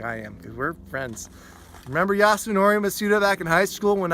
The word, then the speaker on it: Yasunori Mitsuda: less of that stuff it's Yasunori Mitsuda I don't know if I said his name right I do know that I said his name right that's exactly how you say it if you mispronounce